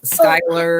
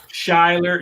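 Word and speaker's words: Schuyler: to talk i be i'm called schumer all the time there's no one who can pronounce skyler um what was the best best one ever shyler shyler was a good too i hear that one all the time shyler actually shyler yeah schuler schuler cooler rainer cheats reyna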